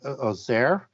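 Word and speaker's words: Auxerre: becomes a bishop at i'll try not to butcher the word bishop of azer and that's the a-u-x-x-e-r-e in france and he's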